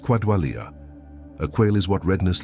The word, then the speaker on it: qualia: That quality, the felt texture of experience, has a technical name in philosophy of mind, qualia, pronounced quadwalia.